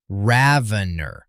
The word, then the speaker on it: Ravener: The Oxford English Dictionary and Merriam-Webster both give the pronunciation as rhyming with ravenous. Ravener, emphasis on the first syllable.